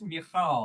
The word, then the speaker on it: Michal: Michael, yeah, I don't, you want the Yeah. Hebrew pronunciation, Harry? It's Michal.